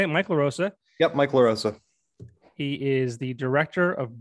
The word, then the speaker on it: LaRosa: Yep, Mike LaRosa.